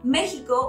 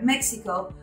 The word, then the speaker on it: México: Canada, same as Mexico or Mexico, we spell it the same, but we pronounce it different.